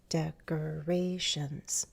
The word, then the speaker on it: decorations: So they're often used as decorations, decorations, decorations, decorations. You could also count, bum, bum, bum, bum. With really long words like decorations, you might have a primary and secondary stress. So decorations. Dec probably has secondary stress.